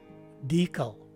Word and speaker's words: decal: way of saying it the phonetic spelling shows that the stress is right in the beginning of the word and the letter e takes a long e sound so the right way to say this word is decal again decal and that's